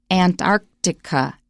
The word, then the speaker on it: Antarctica: it we notice okay now antarctica antarctica you're gonna have to practice go to merriam-webster online and listen to the sound file next sentence however you're